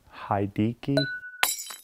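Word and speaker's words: Hideaki: Dickey had a key he pronounced the Japanese name H he de a ki hai D key anyways one of the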